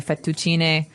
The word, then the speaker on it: fettuccine: fettuccine Alfredo is a very common American Italian dish, but Right. in Italian it'd be fettuccine, so you might hear it differently.